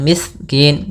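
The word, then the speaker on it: المسكين: dengan jelas lamnya kemudian almiskin Sin mengalir mis miskin jangan miskin ya tapi dia mengalir suaranya miskin maka pada lafal Kin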